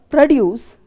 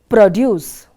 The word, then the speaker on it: produce: is p r o the word produce has been stressed for the first syllable produce whereas for a verb the stresses on the second syllable produce p r o d